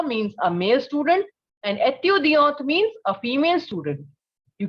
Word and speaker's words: étudiante: Similarly, a female student is étudiante. You can clearly notice that the sound of T is coming in the case of female one, right?